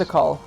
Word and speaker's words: Tikal: Tickle. Is it Tickle? Oh, Is that how it's pronounced? Tikal.